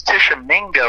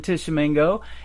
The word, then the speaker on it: Tishomingo: One of the places I'm playing, and I think it's Tishomingo, I think is how you pronounce it, is Old Red.